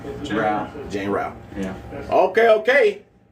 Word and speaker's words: Rao: We pronounce it Rao, so yeah.